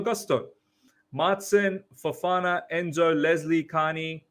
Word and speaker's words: Gusto: Is it meant to be Malo Gutso or Malo Gusto? He's got that wrong. Got me pronouncing Gutso, Malo Gusto.